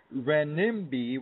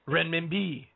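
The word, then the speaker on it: renminbi: to slaughter it the rimi which is spelled re n m i NBI I and actually John it's renman B you gotta say it like a renman B well well let's just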